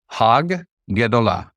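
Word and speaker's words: הַגְּדֹלָה: So in this case, hag gedolah is how you would say it slowly. Hag gedolah, because there's two gimels there.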